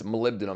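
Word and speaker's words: molybdenum: It's malibdum is how you pronounce it, but Malibenum dulfide.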